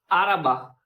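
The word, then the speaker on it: araba: और एक और बात जो वोवेल्स है ना जैसे कि ये अराबा जिसका मीन्स होता है कार गाड़ी तो हम आराबा आ को ज्यादा खींचते नहीं है।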